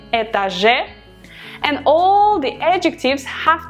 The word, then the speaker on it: этаже: So, этаж, we modify этаже, этаже, the stress syllable is on the last э, этаже, and all the adjectives have to have the ending ом or ем.